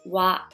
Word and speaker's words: は: So you will learn the grammar later.But for now, please just remember that when you see the letter ha as a particle, you pronounce wa.